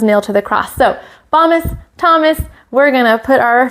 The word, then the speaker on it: Bombus: Bombus, remember it rhymes with Thomas, and that makes me